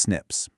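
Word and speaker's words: SNPs: We call them snips, which is pronounced snips.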